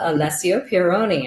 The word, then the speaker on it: Alessio Pieroni: So welcome to the show, Alessio Pieroni. I hope I said that right. I think I'm pretty good with the Italian pronunciations, but Pretty well.